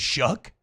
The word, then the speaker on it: Shough: you into believing that your last name is Shuck when it's spelled SHOUGH?